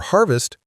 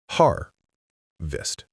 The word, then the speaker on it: harvest: For harvest, you can write harvest. The stress is on the first part.